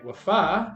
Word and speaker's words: Wafaa: and we're so excited to be joined by wafa she wait did I pronounce that right that is correct yes all